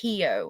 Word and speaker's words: Xio: So it's actually pronounced Hio, and it's pronounced like He-Man.